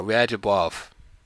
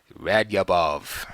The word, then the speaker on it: Radjabov: We had Timur Radjabov, or Radyabov, if you want to say it like that, not pronouncing the J, against Aronian in the same line.